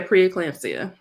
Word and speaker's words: preeclampsia: So my question for you is, what are some signs of preeclampsia? I'm saying it right? Yeah, preeclampsia.